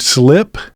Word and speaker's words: SLP: Fort Collins artist named Slip. You'll see SLP, but pronounced Slip of Modlin Monroe.